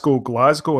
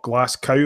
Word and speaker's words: Glasgow: The Haver is it's like when I call Glasgow and not Glasgow like you were doing on the last fucking episode. Like I'm not going there again. I'm not even going to say the name of the city. It's the way it's spelt, for fuck's sakes. What, Glasgow? It's got two G's, no C.